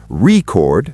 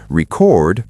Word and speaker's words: record: For example, record, noun, versus record, verb. Same spelling, different meaning?